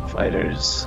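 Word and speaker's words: FighterZ: Fighters. Dragon Ball Fighter Z. It's pronounced fighters. It's just the pluralization with a Z, actually.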